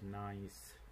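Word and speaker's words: gneiss: an example of folded nice so this this word is is pronounced as nice so that is a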